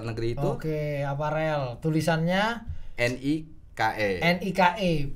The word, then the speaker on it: Nike: Tulisannya NIKE. NIKE.